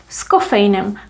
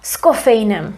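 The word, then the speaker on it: s kofeinem: example of a simple scoffainum we read this little preposition together with the following word so we pronounce it as if it was one word cava scoffeinam it sounds like there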